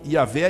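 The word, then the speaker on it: Yahweh: nas bíblias em português essa palavra é velha mas lubraico seria pronunciado algo como ea ver e é formado pela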